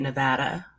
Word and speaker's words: Nevada: thank you by the way for saying it nevada i really appreciate the correct pronunciation there of course tell us a little